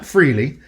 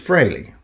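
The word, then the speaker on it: Frehley: So Ace Freilley, not Freley, it's Freley. He says that on on radio stations. He talks about everybody mispronounces it.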